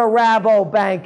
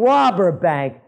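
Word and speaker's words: Rabobank: don't know what a rabo bank is maybe they thought I'm Mis pronouncing it and I'm saying robber bank but no it's a Dutch joint over there another one of the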